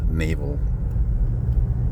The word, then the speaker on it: Naval: in English it's pronounced Naval like the like the Navy and everybody here loves